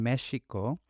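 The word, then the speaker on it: México: Mexico spelled with an X, but we pronounce it as a J. But the original pronunciation would have been Mexico, right?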